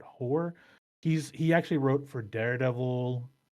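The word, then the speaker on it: Peter Hoar: Hoare or Hoare. It's looks like it's spelled Hoare, but Hoare.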